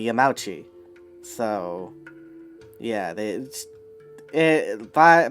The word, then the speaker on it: Yamauchi: i honestly just think that yeah the standard pronunciation would have been yamauchi so that's what i'm sticking with uh to